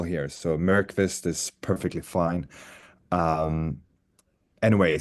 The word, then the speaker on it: Myrqvist: So we tend to use the Y as a vowel here. So Myrqvist is perfectly fine. Um, anyway, so Myrqvist is I would call